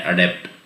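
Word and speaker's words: adept: एडेप्ट का मतलब होता है कुशल, निपुण, जिसका प्रोनाउंसिएशन हम करते हैं अडेप्ट।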